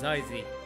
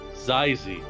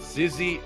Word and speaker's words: xyz: i remember remember correctly the way they pronounce his name in on the japanese streams is zaizi zyzi so not sizzy or xyz this is